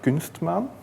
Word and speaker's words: Kunstmaan: about uh kman CMS bundles uh also it's pronounced kman uh quite a hard word for most of